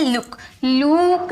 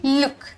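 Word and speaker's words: look: 'ल्यूक' नहीं, 'लुक'।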